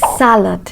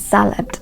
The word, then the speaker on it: salad: have a word like salad yes that word is salad not salad okay so the stress is on the first syllable you have that word